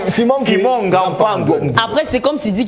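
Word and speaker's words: Ngapandouetnbu: Ok, je vais vous aider. Simon Gapangwedbou. C'est voilà. Je vais vous aider. C'est ça la prononciation. Simon Gapangwedbou.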